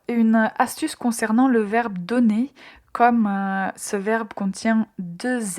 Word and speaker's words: donner: Alors, une astuce concernant le verbe donner. Comme ce verbe contient deux n, quand vous prononcez ce verbe au présent, prononcez bien et clairement la lettre N. Il ne faut pas le prononcer de façon nasale.